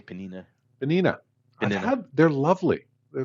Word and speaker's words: Peninnah: say Penina. Penina. Penina. They're lovely. They're lovely. Yeah. Oh, that's it. I was thinking the sandwich, but anyway. Um, That's where Penina, the sandwich comes from.